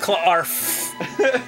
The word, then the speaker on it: Clarf: It's pronounced Clarf.